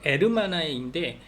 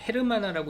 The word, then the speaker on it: hermana: 근데 에르마나인데 H가 들어가 있어요. 그래서 Hermana 뭐 이렇게 헤르마나라고 읽지 않고 H가 묵음. 에르메스 생각하세요. 헤르메스 아니고 에르메스.